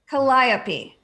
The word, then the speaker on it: Calliope: Calliope. But Calliope is how you pronounce it if you're Greek. Are you Greek, Nolan?